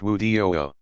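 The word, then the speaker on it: wudu: perform a brief purification called wadu pronounced wudiyo worshipers perform each of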